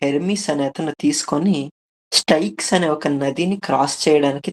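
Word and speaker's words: Styx: సో, అలానే ఆ వైతరణి నదికి సిమిలర్‌గానే స్టైక్స్ అనే ఒక నది దీన్ని స్టిక్స్ అని అంటారు ఇంగ్లీష్‌లో. బట్ గ్రీక్ ఉచ్చారణలో స్టైక్స్ అని ఉంది.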